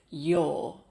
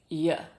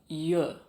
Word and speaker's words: you're: The official pronunciation of this is your. But what native speakers actually say most of the time in real conversations is y or y.